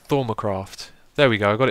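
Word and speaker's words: Thaumcraft: How's it pronounced? Thormacraft.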